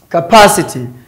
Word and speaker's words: capacity: Capacity. The same thing as well. The TY ending word. The Ty ending word also have third syllable from the edge.